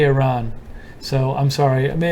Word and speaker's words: Iran: It's Iran, like an electronic run, Iran." Oh, well, I say Iran, so I'm sorry.